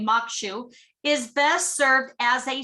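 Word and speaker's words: maque choux: easy favorite crawfish and corn shall pronounce mokshu okay mokshu is best served as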